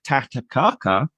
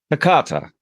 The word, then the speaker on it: Takata: I'm here with tataka who did I make a mince me of your name there nearly uh close how do you say it Takata Takata sounds very precise when you